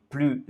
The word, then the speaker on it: plus: i est une voyelle, nous devons faire une liaison.